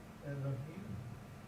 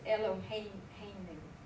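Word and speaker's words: אֱלֹהֵינוּ: Baruch atah Adonai Elohim It's Eloheinu. Eloheinu.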